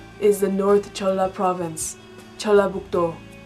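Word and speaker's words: 전라북도: Located below the Chungcheong provinces is the North Jeolla Province, Jeollabuk-do. Separately, the characters are pronounced as Chon, La, Buk, Do, but together it's Jeollabuk-do, Jeollabuk-do. The capital of the North Jeolla Province is Jeonju, Jeonju, Jeonju.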